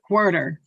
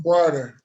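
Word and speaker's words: Huerter: It's HU, but it sounds like HW. What? Porter. That's how you say it. That's how you say his name. Porter.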